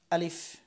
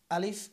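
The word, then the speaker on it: ا: আলিফ। আলিফ উচ্চারণের সময় সব সময় এই উপরের দাঁত এখানে আনতে হবে। আলিফ, একটু খেয়াল করেন। আলিফ, এবং বাতাস থাকবে এখানে, হাত দিলে হাতে বাতাস লাগবে।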